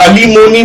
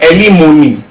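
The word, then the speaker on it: alimony: एलिमोनी, कुछ लोग अलीमोनी बोलते हैं बट सही प्रोनाउंसिएशन है एलिमोनी।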